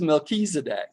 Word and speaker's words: Melchizedek: It is Melchizedek. It You know, is. I That's is pronounced as E. Well, Melchizedek. it's the Hebrew. CH is always K in Yeah, Hebrew.